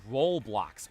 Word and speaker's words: Roblox: And actually, my brother plays it, and for the longest time, I always said Roblox. R-O-L blocks. I didn't know it was Roblox.